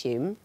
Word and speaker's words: Home: Although it's pronounced Hume. Do you know why it's pronounced Hume?